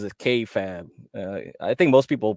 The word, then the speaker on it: kayfabe: So he pronounces it kayfabe.